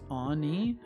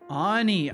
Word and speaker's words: Anie: Annie if you like it's pronounced Anie Anie ah ah Anie him okay gotcha